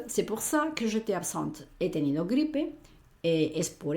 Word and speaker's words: absent: Si fuera un chico, diríamos absent y la T final no la pronunciamos, pero al meter la E, ya la T no es la última de la palabra, ¿vale?